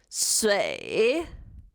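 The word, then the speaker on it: 水: Shui. Shui. Be careful, it's a third tone. You have to pronounce it exactly how I pronounce it. Shui.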